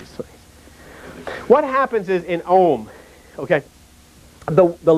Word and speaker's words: Om: The U comes forward, up through the throat. The sound of the air mass is filled, and the M is closed at the lips. OM, like that.